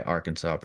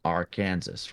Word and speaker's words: Arkansas: it's pronounced right like there's no rule in the book why Arkansas is pronounced not our Kansas right I guess so